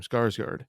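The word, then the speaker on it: Skarsgård: him the other one skarsgard that's how you say his name skarsgard okay um i just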